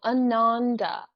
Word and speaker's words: Ananda: Soft A's, so Ananda.